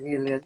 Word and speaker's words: Miller: Essa é a Miller, isso? É assim mesmo que se pronuncia? Sim, Miller, sim.